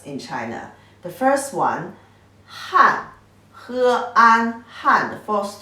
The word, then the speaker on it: 汗: When it pronounced like as he, an, han, the fourth tone means sweat.